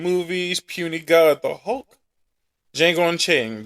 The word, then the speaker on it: Django: Django Unchained, the D is silent.